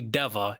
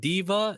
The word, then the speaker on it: Deva: Well, you guys can primarily find me on YouTube on Hey Deva, HEY space DEVUH. It's not Diva, it's Deva.